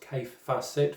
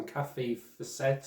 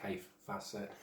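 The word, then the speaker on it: Kaffe Fassett: but that's uh fans mike um and he's pronounced k facet for anyone that knows the name and calls him kathy facet and all this rubbish um i know i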